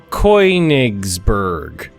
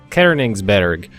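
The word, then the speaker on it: Königsberg: accents and pronouncing it like a an American and just going Coigsberg. And then somebody uh pointed out the umlout and I was like, "Okay, Kerningsburg." And then they're like, "No, you got to pronounce Berg bear." And I was like, "Okay, Kerningsburg." And then somebody else would like, "No, that's not right either. It's you you got to give the the first syllable uh a little inflection, too." So, it's Kerningberg.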